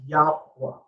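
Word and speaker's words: YHWH: as jew right and why hw is oftentimes pronounced as yahwah okay these people the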